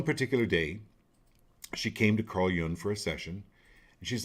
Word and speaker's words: Carl Jung: It's pronounced Carl Jung.